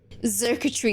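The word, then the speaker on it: Xurkitree: Zirketry is how you pronounce it.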